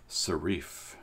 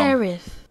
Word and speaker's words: serif: Serif.